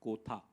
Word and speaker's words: Kotha: guys to tell them it is king of kotha and not the usual Hindi pronunciation um so it's in